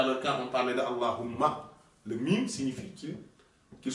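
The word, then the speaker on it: الله: que je parce que beaucoup disent Allah Allah Allah et ne prononce pas le ha alors que ce ha est d'une telle importance dans ce nom Allah Allah mais quand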